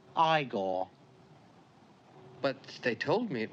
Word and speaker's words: Igor: on no it's pronounced Frankenstein you must be eigor now it's pronounced igore but they told me it was eigor well they were wrong in weren't they so